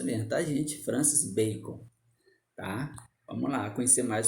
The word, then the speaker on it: Francis Bacon: E essa é a pronúncia mesmo, tá, gente? Francis Bacon, tá?